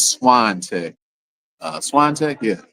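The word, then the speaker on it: Swantek: Uh, so it's Swan Tech.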